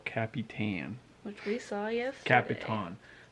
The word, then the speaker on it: El Capitan: which we saw yesterday capitan that's how they all pronounce it huh yeah capitan like happy tan um but anyway this